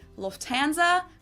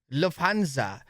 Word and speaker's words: Lufthansa: In English, people usually say Lufthansa, but in Lufthansa. Wait, second largest airline company in Europe? Bro, what, do I not fly either? I don't even know this brand. German, we say Lufthansa.